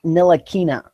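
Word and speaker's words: Ntilikina: we need your expertise Frank no aquinnah that's how you say it trust me great trying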